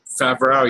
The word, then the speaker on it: Favreau: Favreau, yeah. I don't know how to say. I probably butchered it now, but yeah.